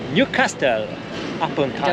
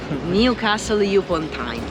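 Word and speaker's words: Newcastle upon Tyne: da qui, da questa città che è Newcastle a Ponto. Sbagliato la pronuncia.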